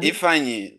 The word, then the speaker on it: Ifeanyi: All right, the last actor we'll talk about is, how do you pronounce this? Ifeanyi? Ifeanyi? Kalu? Ifeanyi, that's the name.